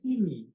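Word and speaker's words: синий: So who else but a native Russian speaker would say blue rather than, or whatever the Russian pronunciation is of this thing? Okay. Sini.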